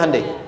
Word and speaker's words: Hyundai: bikin Honda sini hundai Hyundai kan dibacanya hundai kan sana Honda sini